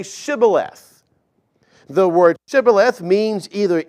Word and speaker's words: Shibboleth: They had a hard time pronouncing the H as Shibboleth. And they would say Sibboleth instead, therefore giving themselves away.